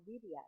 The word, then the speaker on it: birria: So the accent is on the beer. Yeah. Birria. The first syllable.